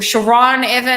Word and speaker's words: Sharon Evan: me on facebook or sharon evan i should start saying because that's how you actually pronounce my name isabella will be back